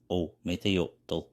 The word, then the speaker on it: Ometeotl: When there was only darkness in a huge void, Ometeotl, Nahuatl pronunciation, Ometeotl, was the first god who created itself.